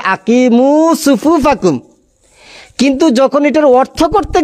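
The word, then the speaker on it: أقيموا صفوفكم: উনি প্রথমে হাদিসটা পড়ার সময় পড়ছেন সহি, কিন্তু অর্থ করার সময় এই শব্দটাকে উচ্চারণ করতে গিয়ে পড়তেছেন আকিমুস সুফুফাকুম। চিন্তা করে দেখেন, যখন হাদিসটা ডাইরেক্ট পড়ছে তখন শুদ্ধ করে পড়ছে যে আকিমু সুফুফাকুম, কিন্তু যখন এটার অর্থ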